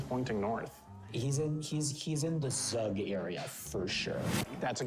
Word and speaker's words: Zug: So that rhymes with Zug, which we know.